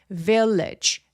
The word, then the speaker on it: village: Village vage. G는 마치 CH와 같은 비슷한 느낌으로 발음하지게 되죠. village.